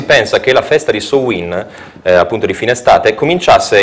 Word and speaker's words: Samhain: estate cioè summers end inizialmente si chiamava samhain questo è dicono la pronuncia seconda dizionario gaelico più diffuso e alla festa